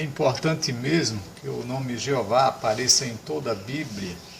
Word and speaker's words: Jeová: nome pessoal do Deus todo-poderoso Oi e a pronúncia dele é errou vá em português é Jeová a todos esses nomes citados aí pelos líderes